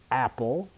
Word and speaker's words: apple: a is very different Apple for that word the stress is on the first syllable Apple I can stretch that one out longer for the second word